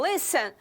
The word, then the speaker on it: listen: No caso de listen, nós temos uma consoante, vogal, consoante, mas o li é o mais forte, então listen.